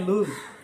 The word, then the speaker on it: lose: নর লুজ position, আর লুজ ওটা LOSE, লস নয়, লুজ, এখানে ও এর উচ্চারণ উ।